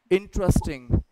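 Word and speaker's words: interesting: अलग तरीके से पढ़ते सही उच्चारण है इंटरेस्टिंग इंटरेस्टिंग इन पे इन पे हमें स्ट्रेस डालना आई विल आस्क यू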